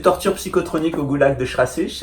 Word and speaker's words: Schrassig: Le deuxième c'est torture psychotronique au goulag de Schrassich. Alors Schrassich c'est la prison de Luxembourg, hein, ça s'écrit Schrassig.